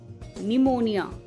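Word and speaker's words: pneumonia: जाता है जैसे psychology निमोनिया Raspberry pseudo podia and cupboard psychology में पी तो है पर साइलेंट है निमोनिया में भी पी है लेकिन साइलेंट है रास्पबेरी में रास्पबेरी नहीं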